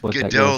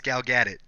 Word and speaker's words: Gal Gadot: It's not Godot like you tried to say earlier. It's Gal Gadot. That's how everyone says it. I've watched like news shit. That's how they say her name.